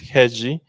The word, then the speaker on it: rede: Bueno también curiosamente eh la palabra red en portugués en Brasil es heji y heji que se escribe rede también quiere decir amaca